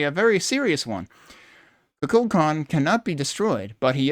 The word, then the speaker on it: Kukulkan: An ancient Mayan deity, Kukulkan, I put the L in the wrong syllable, has nothing to do with mental at all.